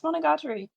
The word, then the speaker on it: Monogatari: yes it would be the a's would both be pronounced the same it would be monogatari